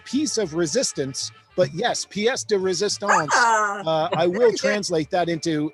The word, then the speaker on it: pièce de résistance: It is pronounced the piece of resistance, but yes, pièce de résistance.